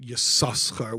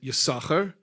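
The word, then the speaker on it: יששכר: uh you pronounce it yakar because the first sin the first letter sin is pronounced count the second letter sin is silent and the rebba said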